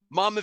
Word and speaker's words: Monmouth: jersey my mom junction monmouth oh it's fine it's not far from me serious oh it's not my am i saying it right mommy mama junction mama junction thank you yes so that's where she's